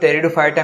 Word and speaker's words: Pteridophyta: अंग्रेजी में Pteridophyta को ध्यान में रखें। टेरिडोफाइटा में, P अक्षर साइलेंट रहता है।